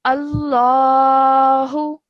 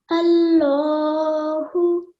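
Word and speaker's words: الله: So as you can see, the alif has a fatha. So when you say this word, you would say it with a thick and heavy sound. So you would say Allahu. Allahu.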